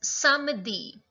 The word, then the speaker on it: samedi: It's samedi.